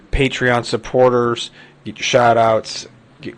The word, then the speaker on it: Patreon: Patreon, I believe, is how you're supposed to pronounce it.